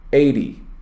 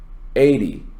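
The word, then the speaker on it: eighty: Now, when you have a number that is based on tens, like 50, you stress the first syllable. Notice 50, 50. When the number is based on teens, you stress the second syllable.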